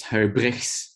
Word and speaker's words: Huybrighs: little bit weird it's her bricks my name there's a weird r and a weird g in there um maximilian is asking